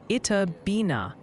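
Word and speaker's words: Itta Bena: All right, Ryan, before you mispronounce another town and start a chat riot, the good people insist it Mississippi is pronounced Itabina.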